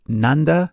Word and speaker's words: Nanda: They were named Nanda and Nanda. Note that while the English spelling is the same, the pronunciation is different.